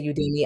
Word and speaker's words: Udemy: That's where Udemy, that's how I pronounce it. Some people say Udemy.